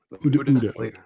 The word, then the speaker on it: OODA: working on, which is how do you guys pronounce it properly? Is it ODA or ODA? Uda.